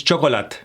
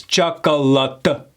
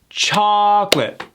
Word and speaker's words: chocolate: Now, a lot of people will pronounce this chocolate. They pronounce it with 4 syllables. Chocolate. When in reality, it's pronounced with only 2 syllables. Chocolate.